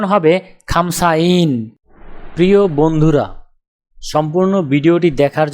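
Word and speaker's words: خمسون: উচ্চারণ হবে খামসাইন। তাহলে 50 ক্রমিক সংখ্যাটির আরবি উচ্চারণ হবে খামসাইন।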